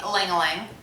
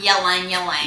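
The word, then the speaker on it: Ylang-ylang: say yo England so it's actually Ling Ling not yelling yelling Eleni well it's just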